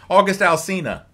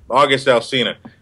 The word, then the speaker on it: August Alsina: August Alsina. August Alsina.